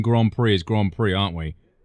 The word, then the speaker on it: Grand Prix: We We're still pronouncing Grand Prix as Grand Prix, aren't we? We're not pronouncing that as it's spelled. Grand pricks.